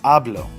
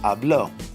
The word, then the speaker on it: hablo: of my voice is on the second-to-the-last therefore it would be hablo yo hablo so if I'm reading a book and it says yo hablo espanol yo hablo happiness then I know that it's pronounced hablo instead of hablo because that's the natural rule now if I wanted